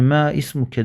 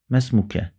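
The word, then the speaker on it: ما اسمك: Yani me ismuke değil de mesmuk mesmuke diye okuyoruz. Vasıl hemzesi düşüyor, okunmuyor.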